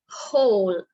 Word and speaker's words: whole: so this word is whole right so here also the w is silent right so w okay